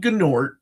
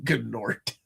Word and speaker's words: Gnort: Who's an artist that I love to see on Gnort? Is the G silent on Gnort? I never got a chance to ask Keith Giffen. I like it being pronounced.